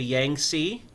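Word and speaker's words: Yangtze: the Grand Canal that connected Two Rivers the Yang SE y a n g t z e and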